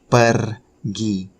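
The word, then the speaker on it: pergi: per-gi it might it might be a bit challenging to pronounce the sound though the tip for you probably how can you pronounce sound is just by try to like vibrate your tongue so you put like your tongue up and vibrate it shake it means to go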